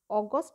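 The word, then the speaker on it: August: ইংরেজিতে উচ্চারণটা কিন্তু অগস্ট হয়, আর বাংলাতে লেখার সময় আমরা লিখি আগস্ট।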